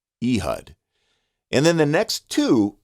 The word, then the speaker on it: Ehud: The way you say that is Ehud, Ehud, Ehud.